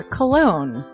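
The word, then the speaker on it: Colon: It is a self-published book by Christopher Cologne. Chris Cologne smells good to me. But look at her. That broke that fucking cold little exterior. He's like, hee. But it is spelled C-O-L-O-N.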